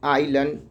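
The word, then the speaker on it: island: अगर किसी स्पेलिंग में एस, सिंपल सा समझिए ना, आई और एल के बीच अगर एस आता है तो उसका उच्चारण नहीं किया जाता है। अब देखिए आई और एल के बीच में क्या आ गया, एस, तो इसको क्या पढ़ेंगे, आइलन, ठीक है।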